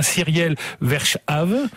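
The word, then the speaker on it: Cyriel Verschaeve: ancien prêtre qui s'appelle alors je je le prononcer de façon un peu à la française cyiel verche voilà c'est ça qui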